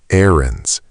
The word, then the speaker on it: errands: Fifth, errands. Errands. 2 syllables, stress on the first, not errands.